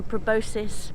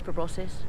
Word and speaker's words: proboscis: elephants the orangutans and the proboscis proboscis or nobody knows how to pronounce it monkeys for bosses says jamie oh the bbc apparently all right okay okay so bbc says proboscis or somebody on the bbc said anyway so rainforest gorgeous